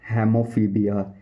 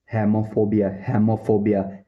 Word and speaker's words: hemophobia: खून का डर मीन्स इसको बोलते हैं हेमोफीबिया। हेमोफोबिया, हेमो मतलब होता है ब्लड, फोबिया मतलब डर, खून का डर। हेमोफोबिया स्पेलिंग बता देता हूँ।